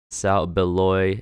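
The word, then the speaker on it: South Beloit: __ ] see that south beloy illinois is how you pronounce it illinois hey [ __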